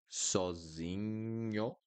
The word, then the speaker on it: sozinho: Sozinho, sozinho, sozinho. And then, oops, sozinho. Okay? So NH will always sound like niño in Spanish, always.